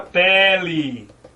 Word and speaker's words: pele: Segundo passo, identificar a sílaba tônica. O que é mesmo a sílaba tônica? É a sílaba que pode ser prolongada. Então a sílaba tônica aqui é quem?